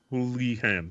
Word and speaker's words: Houlihan: But yeah, that is the legend of Chris Houlihan. As I'm saying his name wrong, I'm sure, but no, I think you're saying it right. Houlihan, yeah.